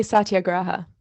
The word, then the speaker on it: satyagraha: you why don't you tell us how you pronounce it so the listeners know i'd say satyagraha satyagraha okay but words are just words and